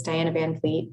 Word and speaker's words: Diana van Fleet: if I mispronounce names you pronounced it perfectly thank you um hello uh my name is Diana van Fleet d i a n